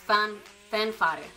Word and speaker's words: Fanfare: I think it's pronounced Fanfare.